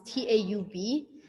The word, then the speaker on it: Taub: It's Taub.